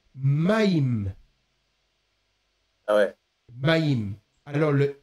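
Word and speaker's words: מים: même lettre qui alors l'eau en hébreu se prononce maim ah ouais ma alors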